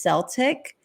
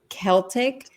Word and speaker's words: Celtic: looked it up and it used to be pronounced Celtic to go with the language at that time which was like an S but in the English language they have reverted it to Celtic which was closer to